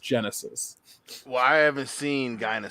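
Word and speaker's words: Genisys: the other dark favorite Dinah sis even though it's pronounced Genesis why I ever seen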